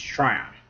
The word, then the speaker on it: Tryon: I never can pronounce that kid's name. It's Tryon.